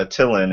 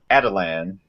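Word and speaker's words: Attilan: and it's as far as the animated show pronounced it it's not it's not a tillin it's adelan okay I was like huh so adelan Rising so there's a big Exposition dump from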